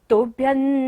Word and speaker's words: तुभ्यं: तुभ्यं, बाद में फिर दोबारा क्या रहा है बिंदी के बाद? न। तो बिंदी का उच्चारण क्या होगा यहाँ पर? न।